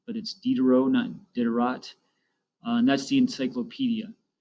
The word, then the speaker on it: Diderot: name is pronounced Denis Diderot sometimes people like to pronounce that T but it's Diderot none Diderot that's the